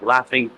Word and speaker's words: laphing: Yes, it is like the laughing like haha laughing except it's not spelled exactly the same way. It's spelled L A P H I N G, but yet it's still called laughing.